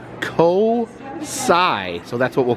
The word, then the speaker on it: COSI: the ticket desk and she said it is pronounced co-sigh so that's what we'll